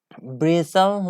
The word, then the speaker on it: bristle: our I asked he l e it means brizl like short stiff hair usually one of the